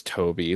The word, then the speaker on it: Tobe: I don't like that it's Toby. Like, that's so Tobe. Like, it's Tobe. Like, I don't like pronouncing the E.